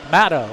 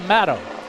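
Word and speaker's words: Maddox: Matto, it's spelled M-A-D-D-O-X, but he goes by Matto.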